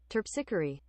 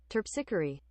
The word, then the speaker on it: Terpsichore: I need to figure out how to pronounce this. Terpsichore. Terpsichore.